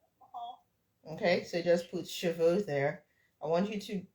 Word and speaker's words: cheveux: So this one is like cheveux. The silent E, the first E here is that silent E that we don't open our mouths to say.